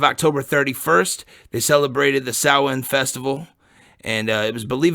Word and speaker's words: Samhain: The Celtic festival of Samhain, I think you've seen it probably spelled Samhain, because that's what it looks like, but it's pronounced Samhain.